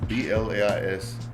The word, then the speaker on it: Blais: It's Blaise, Blais. It's French, and in France it's pronounced Blais.